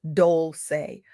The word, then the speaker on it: Dolce: I'm Dolce, pronounced Dolce, like sweet softness whispered in French.